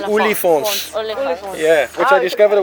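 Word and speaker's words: Oliphaunts: Hence, the Afrikaans for elephants is Olifants.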